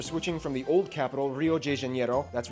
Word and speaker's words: Rio de Janeiro: from the old capital Rio de Janeiro that's right it's pronounced of Rio de Janeiro not Rio de Janeiro but right we're not in Mexico this is Portuguese not Spanish this was done in